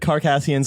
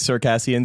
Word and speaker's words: Circassians: I said Carcassians. I'm right. All the history books say Carcassians. Everyone who says Circassians actually just read it and never heard it pronounced.